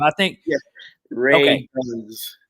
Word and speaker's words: Radunz: Radunz. Radunz.